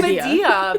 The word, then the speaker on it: Commedia: it's Commedia because there's the accent on the I.